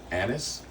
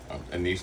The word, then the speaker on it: anise: Think uh fenn fennel or like anis anise, depending on how you want to pronounce it.